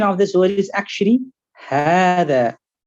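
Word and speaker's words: هذا: So the pronunciation of this word is actually Hada. So you pronounce it as Hada with this alif that you see in front of you.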